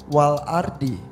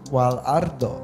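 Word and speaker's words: والأرض: Tapi harusnya wal ardi. Bukan wal ardo. Walaupun dibacanya wal ard.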